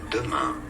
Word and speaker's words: demain: Google, there's like a video of how to pronounce it. Demain.